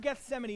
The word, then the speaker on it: Gethsemane: that the Bible calls The Garden of Gethsemane it's how you pronounce it in case you have read that and you weren't sure the Garden of Gethsemane is a place where